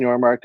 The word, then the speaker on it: Yormark: your social media agency social Mystics if I'm pronouncing it right you got it yeah so my name is your America I'm a owner and founder of socialistic so